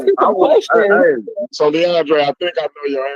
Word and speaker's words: Leondre: DMG, his name is actually Leondre.